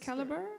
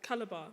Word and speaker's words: Calabar: caliber in nigeria yes do i pronounce it right is it caliber calabar calabar so will your architectural